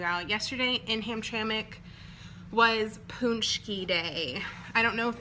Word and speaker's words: Paczki: Well, I brought one for me, but Paczki, yeah, and that's exactly how you spell it, which makes no absolute sense to me. P-A-C-Z-K-I is Paczki. So, I never thought I liked Paczkis.